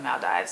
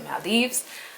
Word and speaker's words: Maldives: to go to the maldives that's how you pronounce it it's not the maldives it's the maldives and um number five it's kind of a